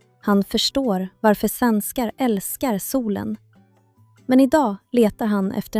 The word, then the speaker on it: sol: L i sol är mjukt och lätt.